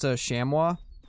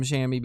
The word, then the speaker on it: chamois: you know what's crazy their actual name is pronounced shamwa but because uh but because in like new zealand they call them shami everybody calls him shammy because of that the